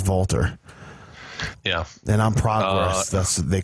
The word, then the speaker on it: Walter: did you know that the proper way to pronounce his name is not Walter what is it Walter oh that makes sense if you listen closely you'll notice that Nigel McGuinness is the only one that says Valter yeah then I'm process